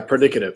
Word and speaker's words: predicative: Yeah, predicative. Yep. Predicative. How do you say that again? Predicative. It's predicating. You're right. It's a predicate, but the way you would say it is predicative.